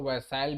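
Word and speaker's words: Versailles: primary cause ठीक है इसको व साइल भी बोलते हैं इसको वर्सस बोलते हैं जैसे भी आप लोग पढ़ना चाहे वैसे पढ़ सकते हैं फ्रांस फ्रेंच में इसका प्रोनंसिएशन वर्सा है ठीक है वर्सल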